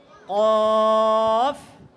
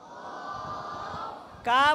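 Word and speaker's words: قاف: কাপ বলবে না, কেমন? কি বলতে হবে? এটা মোটা, এটা কাপ বললে পাতলা হয়ে যাবে। আর এটা হচ্ছে মোটা উচ্চারণ।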